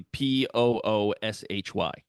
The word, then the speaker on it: Pussy: I'm gonna tell my wife to put Pussy on the list of girl names. You got to pronounce it like James Bond does. Pussy. Pussy. Pussy Galore. It'll be Pooshy.